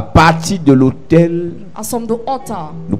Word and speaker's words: autel: talk about the altar, ce n'est pas le lieu d'habitation de passage it's not the living place. qui s'écrit H-O-T-E-L. That is the altar. Lorsqu'on parle de l'autel, When we talk about the altar, ça s'écrit A-U-T-E-L.